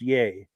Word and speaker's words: Yea: um okay they're in yay Victoria it's pronounced yay cool deal and then